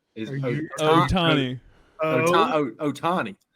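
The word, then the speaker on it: Ohtani: Oshanti, but it's or not Oshanti.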